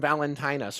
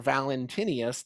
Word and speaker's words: Valentinus: now this is uh from valentinus or valentinius depending on how you want to pronounce his name he was right around the turn of the century from 100 to right about 160.